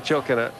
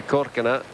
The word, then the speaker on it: Korkina: Certainly knows how to perform with a flourish, does Svetlana Chokina. Oh, it's spelled Chokina, but I keep slipping into that pronunciation. I think it's actually Korkina.